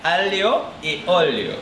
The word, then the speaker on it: aglio e olio: My aglio olio is so close to my heart because it's from Naples. The left or the right Naples? So that's how you pronounce it. Yeah, aglio e olio.